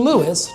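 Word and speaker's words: Lewes: more palatable name, and we've been Lewis, two syllables, ever since.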